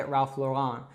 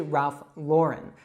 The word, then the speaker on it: Ralph Lauren: So Lauren is actually a girl's name as well. I actually have a cousin, Lauren. And so that can be a really great way for you to remember it. It's as if you had Ralph, which is a man's name, and Lauren, which is a woman's name.